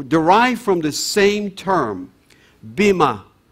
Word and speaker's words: Bamar: from the same term bimma and bimma or or bamar if you would pronounce it in the angelized way is the dominant population